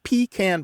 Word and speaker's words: pecan: Yeah, and the thing is pecan pie, where you stress the first syllable of pecan, has a nice rhythm to it.